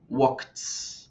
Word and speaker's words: walked: Con los verbos que terminan en consonantes fuertes, vamos a pronunciar walked. Vamos a pronunciar como una T.